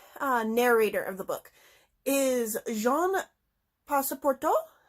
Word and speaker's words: Jean Passepartout: And the main narrator of the book is Jean Passepartout, I think is how it's pronounced.